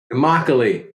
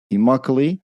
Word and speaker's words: Immokalee: Josh is originally from a small village in Florida called, Josh, help me out with the pronunciation. Immokalee. Immokalee.